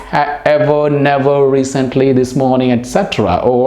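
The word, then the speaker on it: etc.: word is pronounced as etc it is not etc all right it's not acceptra etc etc there is no car sound okay etc all right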